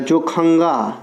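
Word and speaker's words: Dzongkha: यह ज्यादा पूछता है जो खंगा जुंग खा जो खंगा डी से स्टार्ट होता है इसका लिखने का डी साइलेंट रहता है तो ये ध्यान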